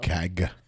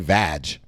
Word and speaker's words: CAG: CAG. It's a hard G. It's a hard G. She keeps saying it, makes it sound like vag.